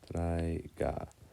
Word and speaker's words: traiga: Traiga. Next syllable is trae. In the word traiga, we accent the A.